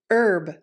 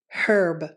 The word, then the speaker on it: herb: this word is pronounced herb in the u.s herb but in some other countries they pronounce it with the h sound herb herb let's practice those